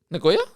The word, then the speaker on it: Nagoya: Nagoya? Yes. Nagoya? Yes. Ah, Nagoya. Is that even a common one? Yes, it is. There's 2.3 million people that live in Nagoya.